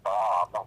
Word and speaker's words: bomb: The word bomb with the silent B at the end, but then right underneath it, we write bombard. Okay, we still have the B-O-M-B spelling. We hear the B in bombard. We don't in bomb.